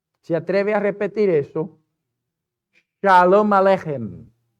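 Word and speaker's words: שלום עליכם: Shalom Aleichem. Pero tiene que ser hem. Como que tienes un catarro. Shalom Aleichem.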